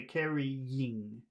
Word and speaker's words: carrying: what the difference is physically the difference is that when you say caring you do not pull your you do not pull your tongue back the way that you do when you say number two so when you say number two you say carrying you pull your tongue back like a snake ready to attack carrying okay the carrying